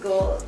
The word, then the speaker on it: GLD: i pronounced gld because that's what i'm spilling but everybody says gold so i'm assuming it's gold gld gold yeah the shop gld see